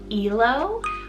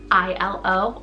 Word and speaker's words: Ilo: Now, next option here can be pronounced two ways. So we have Elo, I-L-O, or you could pronounce it as Ilo as well, but it means joy.